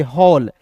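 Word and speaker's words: hall: देखिए एज का दोस्तों ह होता है ना जी, और देखिए ए डबल एल है तो इसका उच्चारण यहाँ आप देखिए ऑल के रूप में करेंगे, हॉल।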